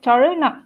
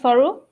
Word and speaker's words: soru: is pronounced as toru, not soru.